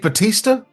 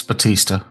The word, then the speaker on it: Bautista: With Dave Bautista? with Dave motherfucking Batista. But I thought it was Bautista. Bautista? I don't know. I'm not a pro wrestling. It's not. It's Batista. It's spelled like Bautista.